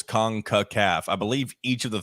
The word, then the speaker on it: CONCACAF: I can't remember correctly, but it's obviously there's 3 syllables. CONCACAF.